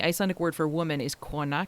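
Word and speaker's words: kona: And the Icelandic word for woman is ka, k o n a, which I thought was a bit drab.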